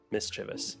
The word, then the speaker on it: mischievous: But you gotta do one of those syllables in all caps so that we know which one is emphasized. Mischievous.